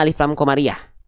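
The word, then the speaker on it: alif lam qamariyah: Ini namanya alif lam komariah, bukan alif lam komarudin, hati-hati.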